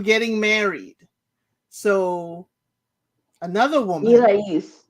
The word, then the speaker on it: Irais: married, so another woman, Irais, her name is Irais. yes, And or they call her Iris. That's how they pronounce it on the show.